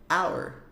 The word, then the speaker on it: our: se é nosso é our our percebe que a pronúncia é muito parecida se você já conhece a palavra hour que significa hora a pronúncia É de fato parecida tá bom é nosso